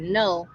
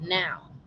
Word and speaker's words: know: And this is why you guys always hear me utilize the word know, but the K is silent. The K silent makes it what? Now. So now is your presence.